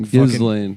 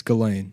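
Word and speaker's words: Ghislaine: ] sent those pictures of Gain at like Gizlane?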